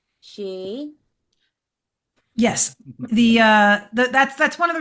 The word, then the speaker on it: sídhe: because Philip asked me, how do you say sídhe? And I'm like, she.